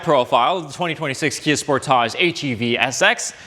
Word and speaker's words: Sportage: It's Sportage, not Sportage, you say. And to that I say, this is a Canadian Kia channel. We call it Sportage because it rhymes with portage, which is what we